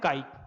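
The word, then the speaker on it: chi: पढ़ेंगे क्या इसको? प्रोनाउंस क्या करते हैं? काई, ठीक है।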